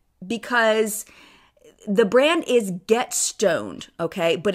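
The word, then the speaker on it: Stonned: St n Ned D but it's pronounced just like stoned I heard the owner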